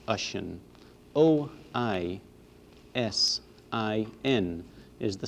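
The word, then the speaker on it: Oisín: Finn MacCool and his son Oisin, can be pronounced Oisin.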